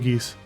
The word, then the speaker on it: Geass: that a lot or code gays or gay geass i'm not i pronounce it geese code geese throat's getting a